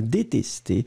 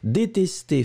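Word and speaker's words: détestées: du deuxième le deuxième détesté détesté féminin pluriel ça n'est absolument pas important on ne prononce pas le S on ne prononce pas le E on prononce juste le accent aigu des tests encore une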